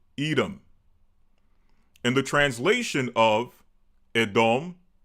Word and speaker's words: Edom: Well, in English, we pronounce it edom.